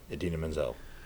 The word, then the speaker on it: Idina Menzel: He goes, performed by Idina Menzel, pronounced just like you would think. The way it's spelled.